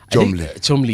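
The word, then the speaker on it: Cholmondeley: But pronounce chumli.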